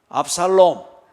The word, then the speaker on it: 압살롬: 뒤에 발음을 잘못하면 놈 하면 그 욕이 되니까 똑바로 다시 압살롬.